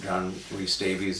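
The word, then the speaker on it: John Rhys-Davies: John John Reese Davies, is that how you say it?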